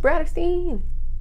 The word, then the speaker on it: BRATTERSTEIN: name is Brittany and my channel name is pronounced BRATTERSTEIN.